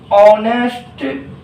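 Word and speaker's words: honest: तो आप देख रहे हो ऑनेस्ट, इसका प्रोनाउंसिएशन, इसका साउंड किस में जा रहा है? वोवेल साउंड में जा रहा है, इसीलिए एन लगा दिए।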